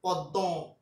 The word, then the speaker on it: পদ্ম: উচ্চারণ করার চেষ্টা করি এটার বেসিক উচ্চারণ কি জানো পদ্দ এটা হচ্ছে একচল চরণ